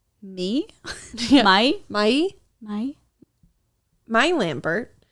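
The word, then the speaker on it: Mie: i promise it'll be the name is spelled m-i-e how would you say that me my my my my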